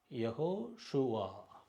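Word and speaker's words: יהושע: சாதாரணமாக ஆயின் அதுக்கு உச்சரிப்பு கிடையாது. எப்போயாவது தான் உச்சரிக்கோம், ஆனால் பொதுவாக உச்சரிப்பு கிடையாது. சைலண்ட் லெட்டர், அதனால் அப்படி போட்டிருக்கோம். யஹோ ஷுவா, யஹோ ஷுவா.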